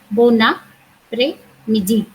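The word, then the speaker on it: bon après-midi: So we in French language we have two words together, and if the second word starts with a vowel, we have to pronounce the whole word together. So this becomes bon après midi.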